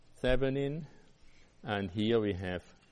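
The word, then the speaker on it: Thévenin: Don't forget the accent on the E. Okay. So Thevenin equivalent. Thevenin, it would be the right way to say it, but I guess here you say whatever.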